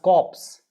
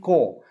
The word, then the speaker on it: corps: a dead body corpse this is military c o r p s is military ko ko k o r military ko it is not even p no p pronunciation it is military core military group of group